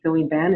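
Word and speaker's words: Thovinh Banh: My name is Sewing Ban. It's spelled T-H-O-V-I-N-H-B-A-N-H.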